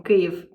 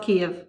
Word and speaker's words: Kyiv: Hello people of the swinging world I’m a lindy hopper from Kyiv (not Kiev, sorry I said it wrong in the previous video).